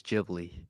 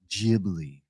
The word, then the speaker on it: Ghibli: Jibli. That's one. Only one right way to say it's Jibli. Jibli.